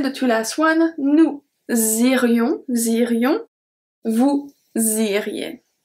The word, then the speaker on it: irions: Then the two last one, nous irions, irions, vous iriez. So the S at nous irions is not pronounced, then we have the link, and finally we have vous iriez.